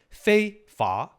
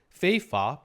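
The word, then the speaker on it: 非法: So, fei fa in Chinese pronunciation is fei fa. Fei fa, different right here.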